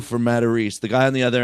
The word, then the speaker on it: Matarese: He's like, it's not a Matarese, that's a Matarese, right?